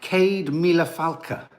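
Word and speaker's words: céad míle fáilte: a hundred thousand welcomes you say it like Cade Miller falca Cade Miller falca beautiful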